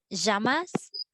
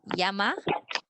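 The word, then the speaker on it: llamas: okay please listen carefully how I pronounce jamas jamas jamas it's not Yama tejamas Como sejama right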